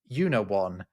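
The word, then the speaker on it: unaone: Instead of saying one, you say uni one.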